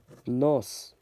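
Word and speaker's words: нос: pretty tricky one too this looks like an h but it's pronounced and uh nos which means nose like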